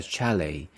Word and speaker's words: chalet: ever stayed at a chalet chal the stress is on the first one Chalet is a wooden